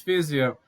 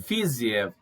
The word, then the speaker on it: Fiziev: Anjos versus Fiziev.